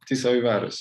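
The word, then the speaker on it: Tiszaújváros: As you, Tizilváros, you're excellent.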